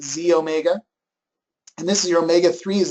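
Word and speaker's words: xEO Mega: one is the E it says XE Omega okay but we pronounce it Z Omega and this is your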